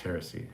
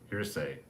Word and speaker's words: heresy: donnie pearson i thought the word harris heresy has three syllables pronounced heresy it does i probably read it wrong so i have dyslexia i probably said mine instead of hair hearsay but it's heresy yes you're right jonathan